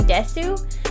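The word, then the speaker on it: です: are just there like there's a u and desu but you're actually just supposed to say this which i learned from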